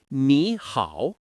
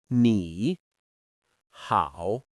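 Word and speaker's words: 你好: Another thing to remember is that when two third-tone syllables appear together, the first one often changes into a second tone in real speech. So, ni hao ends up sounding like ni hao.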